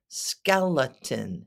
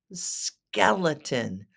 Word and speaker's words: skeleton: Skeleton. It's a short E at the first E. Skeleton. And the second E makes the sound because of the schwa. And the T-O makes a T-I sound.